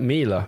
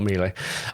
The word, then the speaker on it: Miele: It should rhyme with Sheila, like Mila. Okay, Mila. It should be Mila, not Miele.